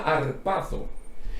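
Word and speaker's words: ἁρπάζω: que viene de un verbo griego que se pronuncia arpazo y ese verbo griego lo que significa es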